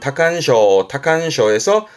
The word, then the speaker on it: 多汗症: 발음은 타칸쇼에서 다한증의 한자, 땀 한자였습니다.